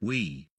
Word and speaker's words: oui: the similarity with the french word for yes is oui pronounced we the english word yes